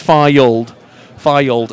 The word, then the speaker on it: Fylde: By the way, both sets of fans adding an extra syllable to their team's names. Fylde and Guiseley. That's a little fact for anyone that may not have noticed it. It's actually Fylde's one syllable, Guiseley's two.